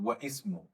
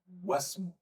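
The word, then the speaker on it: واسم: Not wa ismu, wasmu. So you started with ismu because it is Hamzat al-Wasl.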